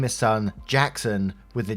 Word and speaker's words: Gaxon: Well, it turns out he wasn't messing with me, and someone on his dad's side was actually named Gaxon, pronounced Jackson.